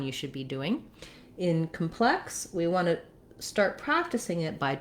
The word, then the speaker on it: complex: So in the noun, a complex, we have first syllable stress.